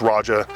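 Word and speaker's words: Roja: things like Raja, sorry, I'm not gonna pronounce it wrong like everyone else. It's Raja, like a British person saying Roger, because you watch videos of the guy himself and he says Raja.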